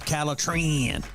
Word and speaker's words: Calitrin: If you want to sleep better and lose weight, then the product that you need is called Calitrin, or you can pronounce it Calitrin.